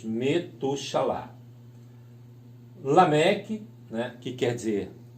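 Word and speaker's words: מְתוּשֶׁלַח: quer dizer em hebraico, ou é pronunciado em hebraico, Metushalá. Então, nós temos o Ben com Shevá, o Tav, o U, o Shin, o A, o Lamed, outro A e o Het. Então, nós lemos Metushalá.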